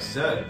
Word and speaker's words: Z: See, you gotta say it like Zed, because this is a British game. People in, I guess probably somewhere in England, they made this game. And over there they say Z as Zed.